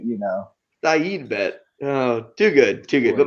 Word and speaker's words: Saeed: It's not a side bet. It's a Saeed bet.